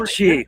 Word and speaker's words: Mattchee: Doing pretty Mattchee, man. You can call me Matt. Okay, well, I mean, I know you like you kind of told us to like pronounce it all as one word.